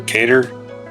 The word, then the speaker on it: Qatar: Qatar. It's Qatar. That's how they say it in their language.